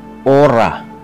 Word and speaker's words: hora: Ang H ay hindi binibigkas sa Latin. Natulad ng sa Kastila. Halimbawa, hora. Ito ay ora.